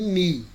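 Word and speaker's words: νι: É só a grafia lá que é o U do alemão, mas a pronúncia nossa sempre vai ser mi e ni.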